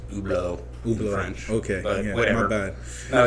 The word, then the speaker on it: Hublot: that's spelled Hublot by the way and it's pronounced oblo okay whatever my bad no you're you're fine